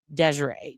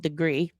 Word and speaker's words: Degree: me of is Asha Degree. Do you guys remember that? It looks like it's spelled degree, but it's Degree, I believe.